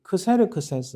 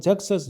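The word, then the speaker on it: Xerxes: 이 아수에르는 그 크세르크세스 혹은 잭세스, 영어 발음은 잭세스라는데 그 왕의 아들이 아닥사스다예요.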